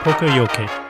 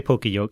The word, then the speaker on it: poka-yoke: But don't say pokey because that's really off. Pronounce it more like the Japanese.